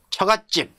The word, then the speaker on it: 처갓집: 그래서 거기는 그냥 안들어 죠 근데 예를 들어 처갓집 외가집 이때 또 왜 들어가죠 이때는 처갓집 외가집 발음이 사이 소리 발음이 난다는 겁니다 예 그래서